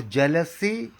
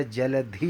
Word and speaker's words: जलधि: और जलसी कोई शब्द नहीं है हिंदी, बांग्ला, संस्कृत, उर्दू, किसी भी भाषा में जलसी कोई शब्द नहीं होता, जलधि होता है हिंदी का।